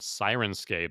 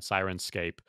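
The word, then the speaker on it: Syrinscape: thing and you linked through a site called siren scape that you seem familiar with my yeah so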